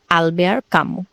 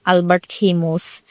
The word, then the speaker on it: Albert Camus: মূল লেখক ছিলেন আলবেয়ার কামু। অনেকে এটাকে অনেকভাবে উচ্চারণ করে। অনেকে বলে আলবার্ট খেমোস। মূলত এটা একটা ফরাসি নাম।